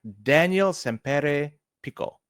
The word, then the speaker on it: Daniel Sempere Pico: curious I'm gonna say the name hopefully I pronounce it correct Daniel sere Pico very well said that's right is that um